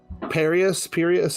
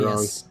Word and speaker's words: Curious: his handle is Pirius. I always say it wrong. Curious.